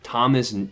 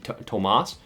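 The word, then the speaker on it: Tomás: Like Thomas, Tomas, that's definitely Tomas.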